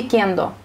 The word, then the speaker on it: кендо: Наверняка нашим телезрителям будет интересно, кендо или кендо?